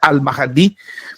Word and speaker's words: Al-Mahdi: Entonces, estos que van a ser engañados por el Al-Mahdi, en verdad, porque la pronuncia es Al-Mahdi, van a ser engañados por su propia deliberación, por su propia elección.